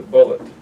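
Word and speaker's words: Bulliet: named richard bullock and b-u-l-l-i-e-t bullet he pronounces a bullet and um you should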